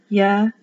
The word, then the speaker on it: Yehovah: It can be Yahweh. That's also correct because the V changes to a W. Either pronunciation is correct.